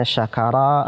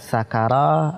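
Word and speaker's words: شَكَرَ: Misalnya kita baca misalnya syakara artinya bersyukur, kita baca dengan sakara artinya mabuk, tentu sangat jauh perbedaannya.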